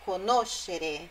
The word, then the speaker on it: conoscere: É a sílaba anterior a esse final, xerê. Ó, conoscere é o no, nascere, crescere. Não é conoscere, nascere e crescere.